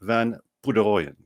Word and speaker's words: Van Poederooyen: us welcome with the great joy mr ryan van pouderoyen hello ryan hey uh amazing job with your